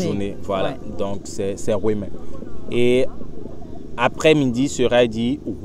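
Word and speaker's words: Houeme: je vais le rendre un peu simple, ça sera H-O-U-E-M-E, pour que tu vois la prononciation, mm-hmm.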